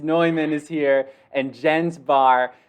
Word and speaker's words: Neumann: I wanted to say Newman, but it's Neumann is here, and Jens Barr.